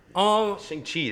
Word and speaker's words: Shang-Chi: Shang-Chi. That's literally how they pronounce it.